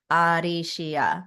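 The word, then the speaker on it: アリシャ: so in Japanese, there's no L's. So I would shift it in katakana, it would be Arisha. So using an R instead.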